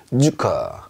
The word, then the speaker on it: Zucker: 자 어떻게 발음하냐면 쌍지읒 발음이 납니다. 우리말로 약간 세게 쯔 소리가 난다. 그래서요, 소금이란 뜻이죠. Salt, salt 이렇게 해주시면 되겠어요. 얘는 설탕이란 뜻이에요. Zucker, Zucker 이렇게 발음합니다.